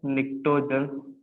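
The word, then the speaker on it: pnictogen: 50 को बोलते हैं निक्टोजन। पी साइलेंट रहता है यहाँ पे, पी साइलेंट है, बाकी सब वायलेंट है, ठीक है ना।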